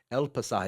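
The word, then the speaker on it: El Pasaje: El Pasah.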